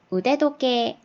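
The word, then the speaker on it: 腕時計: 차는 거 손목시계 줘 손목 시계는 우대 도 깨에 5대도 깨에 라고 발음을 할 거에요 이 토케시 않은 팁 발음이 앞에 글자로 만나 가지고 조금 발음이 달라졌어요 의 대도 깨에 그래서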